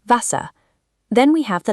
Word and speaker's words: Wasser: In German, you must read this as an English V. The word for water is pronounced Wasser.